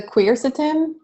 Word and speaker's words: quercetin: And it's because of the Amy Morgan, how do you pronounce that word with the Q? The quercetin?